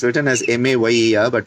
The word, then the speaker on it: Mayer: The Mayer rhythms, we used to call them Mayer because it's written as M-A-Y-E-R but pronounced as Mayer.